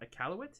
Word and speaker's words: Iqaluit: But do you know how to I Q A L U I T Iq- Iqaluit? Is that how you pronounce it? Yeah. Iqaluit.